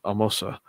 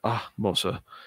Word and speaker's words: Ahmose: It's not Mose like A-Y, but it's a softer, like Amosa type pronunciation. So I'm reading this book with these two names in my head, Ka Mosa and Ah Mosa.